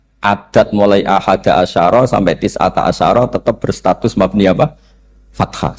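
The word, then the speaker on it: تِسْعَةَ عَشَرَ: Tetap bacanya bukan tis'atu asyarin tapi tis'ata asyara.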